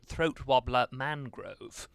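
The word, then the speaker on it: Throatwobbler Mangrove: whose name is spelled Raymond Luxury Yacht, but pronounced throat wobbler Mangrove.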